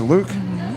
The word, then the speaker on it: Louque: Luke, L-O-U-Q-E, Luke. Yeah, it's just like L-U-K. So you pronounce it Luke?